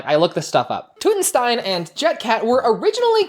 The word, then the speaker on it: Tutenstein: So I'm gonna say King Tutenstein and not Tuttenstein.